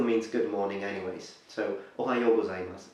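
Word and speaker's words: おはようございます: In the morning you normally say, Ohayo gozaimasu. Ohayo gozaimasu. Ohayo gozaimasu. So to break it for the pronunciation is O-ha-yo. Ohayo. Please note the H is pronounced.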